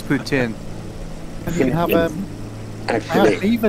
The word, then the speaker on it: poutine: Well, I don't know how to pronounce it on that French. It's not mayo, it's gravy. Yeah, it's poutine.